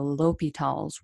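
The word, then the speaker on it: L'Hôpital: le hopital's rule and this guy's french so of course his name is hard to pronounce but just remember it's french so leave out all of the letters so we get the l and we get an o p tal so l'hopital's rule we're going to come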